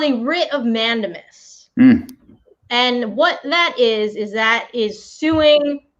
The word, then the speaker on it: mandamus: No, it's pronounced mandamus.